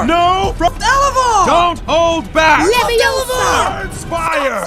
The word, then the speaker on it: Leviosa: It's Wingardium Leviosa, not Leviosa. That's pretty much exactly what he's saying right now. Aloft Elevar! Aloft Elevar! No! Elevar! Don't hold back! Leviosa!